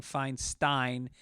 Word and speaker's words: Feinstein: to California in the 60s people started saying fine Stein and he went with it Diane as a Californian was fine Stein her second hus whatever it was her husband's name but since people pronounce it both ways in the US I don't expect to know how uh anyway Ryan another uh